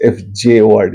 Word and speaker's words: fjord: Anyway, coming to the next question, a fjord, or sometimes they spell it FIORD, and the classical spelling, British spelling is FJORD, is still pronounced fjord.